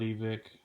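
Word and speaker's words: Evike: wants to pronounce it I pronounce it evik because you know if you think about it you separate you know the E and then from the vik that's you know it's how it should be pronounced but whatever they call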